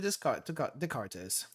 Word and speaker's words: Descartes: Miyako laid out everything to Descartes. Remember, the S is silent.